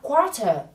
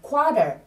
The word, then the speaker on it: quarter: Và khi lướt âm một chút và khi nói trong văn nói hàng ngày của Anh Mỹ thì do âm số 2 không phải là trọng âm nên người ta có thể lướt âm T ở đây thành na ná như âm D thành quarter. Quarter, như vậy ạ.